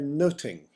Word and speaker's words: nothing: fuss about very little the word nothing would probably have been pronounced more in the way of noting in Elizabeth in England noting as a verb